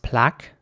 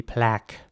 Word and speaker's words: plaque: And in British English, it would be pronounced plaque with R, although some people in the UK might say plaque, but that is quite American as well. So in American English, it would be plaque.